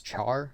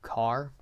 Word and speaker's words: char: called I don't know how others pronounce it I pronounce this as Char some I think do car I don't know but